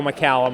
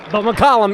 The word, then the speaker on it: McCallum: I would say most people go Macllum off the hop. McCllum is the correct pronunciation.